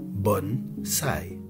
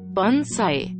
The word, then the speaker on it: bonsaï: Si vous essayez sur Google Traduction en anglais, italien, espagnol, arabe ou n'importe quelle autre langue, vous entendrez toujours la bonne prononciation japonaise bonsaï. Bonsaï.